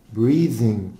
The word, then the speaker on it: breathing: breathing problems breathing طبعا التي هنا حبايب تنطق ذا.